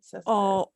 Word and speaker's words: césped: Is that pronounced right? Césped.